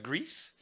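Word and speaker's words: Gris: I finished Grease, which I found out is pronounced like grease, like greasy car.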